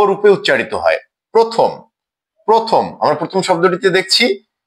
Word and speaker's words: প্রথম: প্রথম প্রথম শব্দটিতে আমরা দেখছি প এর সাথে র ফালা আছে এবং অকার আছে। অর্থাৎ এই অকারটি ও রূপে উচ্চারিত হবে।